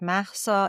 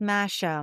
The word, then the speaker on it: Mahsa: It's Mahsa. It's got that H there. So forever it was mispronounced Masha, Marsha, Misha, Mosha.